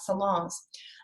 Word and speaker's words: salon: looks like a hair salon right but it's actually the n is silent um or it's very